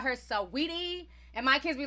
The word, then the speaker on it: Saweetie: And I believe her name is pronounced Sweetie, but I always call her Saweetie.